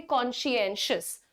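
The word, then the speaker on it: conscientious: कर्तव्य के लिए कूल देखिए कौन शी एन शस कॉशंस ओके थोड़ा श श ज्यादा है तो वो स्पॉयलर भी हो सकता है आपके लिए बट आप बोलेंगे कॉन्शेंशियस ठीक है ओके आई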